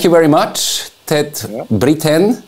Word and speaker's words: Brithén: Brithén, it's correct?